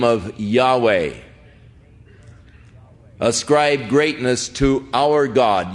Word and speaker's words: Yahweh: of Yahweh now again Yahweh is the name of God as far as we can know pronunciations that is as close as man some say Jehovah but more generally the